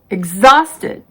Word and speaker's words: exhausted: spellings who whose whole the h is silent in these words our honest honor air oh vehicle exhausted exhibit rhyme rhythm some common expressions are